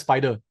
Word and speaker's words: SPDR: They are pronounced as Spider, but they are actually they have a certain, is Standard and Poor's Depository Receipt, SPDR.